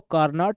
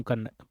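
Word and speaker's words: Carnot: और एक कार्नो engine है। ठीक है ना? तो इसको कार्नॉट नहीं पढ़ते हैं। इसको कॉर्नो पढ़ते हैं। टी साइलेंट रहता है।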